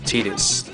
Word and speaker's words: Tidus: thought it was person I thought it was Titus but I looked it up online and it's actually pronounced as tetus um as you see this is the first